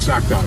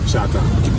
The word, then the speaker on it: Chata: Not Choctaw, Chata.